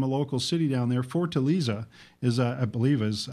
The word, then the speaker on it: Fortaleza: Fortaleza, is how you pronounce the name, of the city down in Brazil.